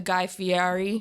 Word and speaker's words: Guy Fieri: I obviously don't remember the first time I tried an egg, but I'm like the Guy Fieri.